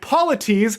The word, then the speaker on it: Polites: And Polites is literally spelled like the word polite with an S.